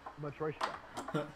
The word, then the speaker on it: Matroshka: It's pronounced Matroshka. Matroshka, like the doll.